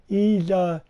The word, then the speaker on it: Ys: That's how it's pronounced. There's no apostrophe in between the Y and S. Ease Eternal 2.